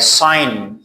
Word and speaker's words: sign: Like sign, design, resign, foreign, align.